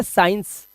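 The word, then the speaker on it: science: अंदर सब्जेक्ट देखो आपने साइंस। एक सब्जेक्ट सुना होगा साइंस। अब यहां पर यह जो वर्ड है साइंस, इसमें हम पढ़ क्या रहे हैं? हम क्या सी को पढ़ रहे हैं? नहीं पढ़ रहे।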